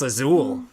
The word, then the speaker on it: Azul: He's like, how do you pronounce Azul? I was like, azul. Like in Spanish.